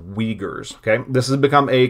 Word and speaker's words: Uyghurs: xinjiang and the uyghur people that word is pronounced uyghurs okay this has become a controversial issue lately